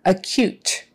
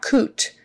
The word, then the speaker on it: acute: can be tricky just remember that cute part how you say it when someone is cute it's with a k-y-u sound like cute not coot cute acute and the stress is on the second half acute meaning very serious right okay